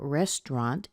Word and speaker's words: restaurant: guess what you don't you don't pronounce it at all it's one of these weird words where certain sounds are just squeezed out they're gone so you